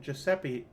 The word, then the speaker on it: Giuseppina: A for effort, but here is the phonetic pronunciation. Giuseppina.